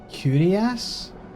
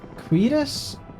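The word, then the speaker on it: cuirass: Towers Game Boy Advance game, and I always pronounced it like curious, not curious, curious, but it's apparently queerus, which is the thingy.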